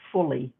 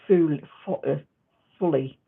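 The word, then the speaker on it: phuli: a thing called um it's spelled p-h-u-l-i but it's it's pronounced fully or full fully and they're like um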